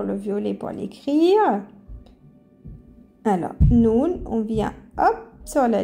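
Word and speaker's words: نون: la crire en français pour savoir comment ça se prononce ça fait noun comme ça on prononce cette lettre ça se prononce noun noun voilà alors on va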